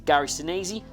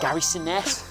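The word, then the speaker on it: Gary Sinise: it's a gary sinaizy kevin bacon or bill paxton hello every chefs and as the correct pronunciation there but kevin bacon oh what's that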